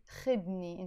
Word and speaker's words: خدني: You drop the u sound and it becomes خدني, خدني, take me.